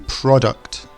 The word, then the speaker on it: product: place the first one is it product or product it should be product the emphasis at the start the next one protect